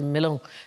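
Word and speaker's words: Melun: Henry V fought hand-to-hand in a tunnel during the siege, I think it's pronounced Milon, in 1420, and his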